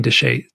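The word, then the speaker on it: Chelly: and it's it's it's it looks like it's spelled delli but it's Canning deset d c h l l y and it's on the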